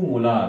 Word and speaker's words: molar: Therefore it इज 2 मोलार, म्हणजे स्पेलिंगमध्ये लिहायचं असेल तर स्मॉल लिटरमध्ये MOLAR, सिम्बॉलमध्ये 2 आणि कॅपिटल M लिहिला. कॅपिटल M लिहिला तरी म्हणताना कॅपिटल M म्हणायचं नाही, वी शुड से मोलार.